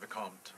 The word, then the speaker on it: Vicomte: The way you did it first is perfect, Vicomte.